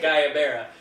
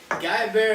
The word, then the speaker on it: guayabera: hell to pronounce it guayabera gu aya ber a and both of us are like well it's probably a lot simpler than it looks and it absolutely was